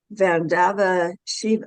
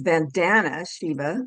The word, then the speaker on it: Vandana Shiva: First of all, I'm going to go to Dr. um Vanava Shiva, excuse me, her name is Vandana Shiva. I always get that first name wrong, but it's Dr. Vanana Shiva.